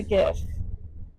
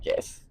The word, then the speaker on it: GIF: for people who say gif. It's a gif. What? It's not peanut butter. It's not gif. I have always pronounced it with like the soft g which is why I